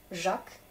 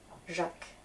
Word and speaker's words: Jacques: les prénoms yves jacques il a un s à la fin jacques je crois quoi alors